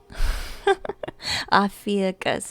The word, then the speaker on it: Ophiuchus: Ophiuchus is how I pronounce it.